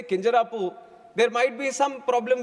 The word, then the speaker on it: Kinjarapu: Copernicus later hey and my name is Kinjarapu Rammohan Naidu and when some people say Kinjarapu there might be some problem with them they